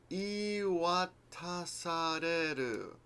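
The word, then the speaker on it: 言い渡される: If you're doing long verbs like this, if you're new to Japanese, go backwards. Ru, reru, sareru, tasareru, watasareru. That's right? Iiwatasareru. And you can learn to pronounce things quickly.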